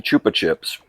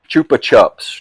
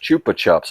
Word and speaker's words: Chupa Chups: See, Chupa Chips. Chupa Chups. Chupa Chups. I knew I was pronouncing it wrong.